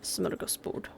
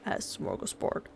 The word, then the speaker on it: smörgåsbord: I'm gonna cringe at this because I don't like saying words incorrectly when I know how to say them correctly. Smörgåsbord. Smörgåsbord. It's a Swedish term, and it means to